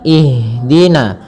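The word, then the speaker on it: اهدنا: Ihdina. Ihdina. Ihdina. Ya. Dengan aliran. Jangan sampai kesalahan yang sering terjadi membaca ihdina, yaitu memantulkan huruf ha.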